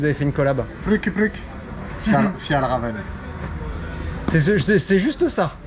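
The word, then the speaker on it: Fjällräven: Eh messieurs, j'ai un énorme problème, j'arrive pas à prononcer le nom de la marque suédoise avec laquelle vous avez fait une collab. Pluk. Fjallraven. C'est juste ça. Fjallraven, ouais.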